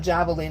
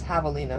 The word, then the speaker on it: javelina: It's not Javelina, it's Javelina.